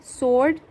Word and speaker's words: sword: Sword, W is silent.